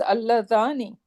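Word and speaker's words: اللذان: And it is Alladhani, Yeah. right? So it is rhyming with Muslimani.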